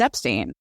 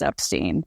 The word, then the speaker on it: Epstein: life according to her the family name is Epstein my son is Brian Epstein it's ridiculous to